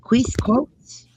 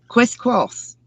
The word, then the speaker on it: quisquous: Let's go to these words that I know I cannot pronounce. All right, quis costs. Ah, quis costs.